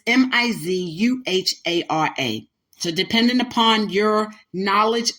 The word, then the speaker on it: Mizuhara: Some people pronounce it Mizuhara, but it's Mizuhara.